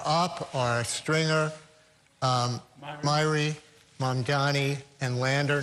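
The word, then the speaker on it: Mamdani: Mandi. Mandani. Mandani. Almost there. Okay, I'm getting it.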